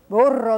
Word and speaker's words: burro: And then another word, burro, that's got that trilled R, so we'll get some more practice with that.